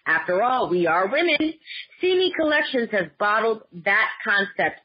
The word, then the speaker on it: Si Mee: why name see me pronounce see me because it's si and EE for her those were